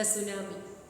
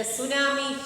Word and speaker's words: tsunami: The first letter is silent. First letter T is silent.